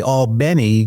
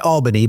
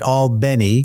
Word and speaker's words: Albany: my first job out of FSU was actually all Benny Georgia not Albany but alny which is how they pronounce it and that was uh 1987 so